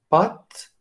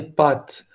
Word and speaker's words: pâtes: à ba2 t e et normalement les français par exemple vont prononcer ce mot là avec pat porte prendre et les mots son accent circonflexe sur le a ils ont des pâtes des pâtes et des